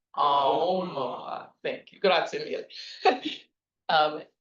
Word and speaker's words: Aomawa: So it's pronounced Aomawa. The emphasis is on the O.